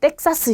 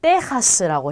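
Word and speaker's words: Texas: 자, 텍사스인데요. 우리 텍사스 이렇게 하지 않고 테하스라고 해요. 그래서 얘도 흐 발음이 납니다.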